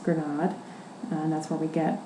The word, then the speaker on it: grenade: inspired by learning that the word grenade um is the word for pom granate in French pronounced granade and that's where we